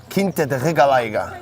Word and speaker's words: Quinta da Regaleira: Quinta da Regaleira. Well pronounced, by the way. Portuguese, man. Thank you.